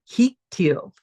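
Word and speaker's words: הקטיל: So this is pronounced hiktil.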